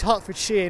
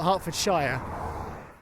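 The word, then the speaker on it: Hertfordshire: on on on TV where people go oh somewhere shia but it's not it's she as in like you know a pair of garden shears that's how we pronounce it like it's shears so this is Hartford sheer not Hartford shia going back to what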